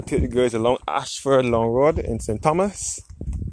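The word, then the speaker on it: Ayshford: Ashford is spelled A-Y-S-H-F-O-R-D.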